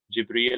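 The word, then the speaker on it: جبريل: In addition to the names of the angels, and notice that there's a difference here between Jibril and Jibra'il, right? Those are two different ways of saying the same angel.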